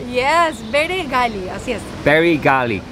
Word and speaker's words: Bere Gali: Yes, Bere Gali. Yes. Bere Gali. So it's like the cap, the Bere. Bere Gali.